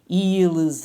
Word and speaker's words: ils: And here, notice that I'm doing the liaison because this is a vowel. So even though we don't pronounce the S in il and el plural, as soon as we see that vowel, we sort of connect them with a z sound, right?